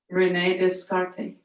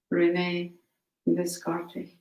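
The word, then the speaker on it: René Descartes: you'd out as far as possible all things Rene descarte if you would be a real seeker after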